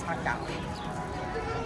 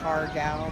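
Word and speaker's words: har gow: The way I know how to say it is hakao. It's spelled like you would say hargao, but the way I was brought up, the way my Chinese grandmother said it was hakao.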